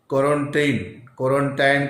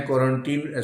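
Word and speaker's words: quarantine: और एक नाम रख दिया क्वारंटाइन, क्वारंटीन स्पेलिंग के अनुसार दोनों प्रोनाउंसिएशन होता है।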